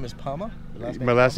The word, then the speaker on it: Palmer: So your name is Palma? My last name is P-A-L-M-E-R, but I can't pronounce the R, so it's Palma.